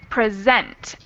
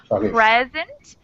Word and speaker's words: present: This one is present, with the emphasis on the second syllable. And if you switch the stress, it becomes a different word.